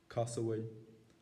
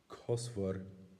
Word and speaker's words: cosúil: So those are the four major ways that you will find the word for like pronounced: cosúil, cosúil, cosfor, and cosfuil. It's very hard to keep track of.